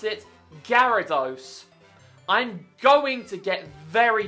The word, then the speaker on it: Gyarados: Like, it isn't Gyarados. It's Gyarados. You don't need to emphasize on the Arados. It's Gyarados. You don't need to emphasize the Ara part in its name.